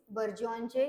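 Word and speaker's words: burgeon: त्यांचे सिनोनिम आणि अटोनिम बर्जनचे याच प्रोनन्सशन काय आहे बी य आर तर बर्जन असं याच प्रोनन्सशन आहे आणि त्याला म्हटलं जात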